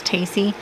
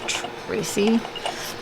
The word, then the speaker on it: Tacy: And she also hated when people said her name wrong, because since it was Tacy, and everybody wanted to call her Tracy, and so if people